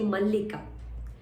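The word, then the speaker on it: मल्लिका: So mallika, double L is there, so give a slight stress when you say mallika.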